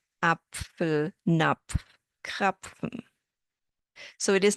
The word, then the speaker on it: Apfel: We pronounce them as one sound, like in Pfanne, Pfote, Apfel, Napf, Krapfen.